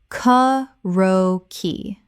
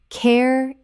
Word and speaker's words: karaoke: Karaoke. Correct pronunciation. Karaoke. 4 syllables. This Japanese word has 4 clear syllables, not 3.